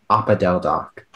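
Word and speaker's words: opodeldoc: i can tell yes oppa del doc can you repeat all the informations again the word is oppa del doc it has no alternate pronunciations it's a noun from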